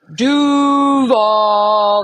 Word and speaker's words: Duval: As far as how to properly say it, the proper way to say it is Duval. That's the proper way to say it. So you got to go lower octaves.